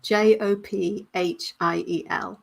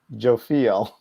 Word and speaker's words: Jophiel: please for me yes j-o-p-h-i-e-l so us americans we would say jo jofiel jophiel jophiel i don't and that's